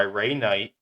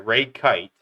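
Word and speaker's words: Kight: Back in the States, there have been intensive uh investigations performed by Ray Knight, sorry, Ray Kite. It's spelled like Knight but without the N.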